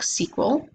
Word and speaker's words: SQL: a proc SQL statement we can pronounce that is proc sequel then we have one